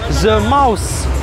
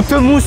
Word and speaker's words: The Mouse: Re, voici The Mouse ou la souris pour ceux qui savent pas parler anglais ou The mousse pour ceux qui savent pas prononcer correctement les noms.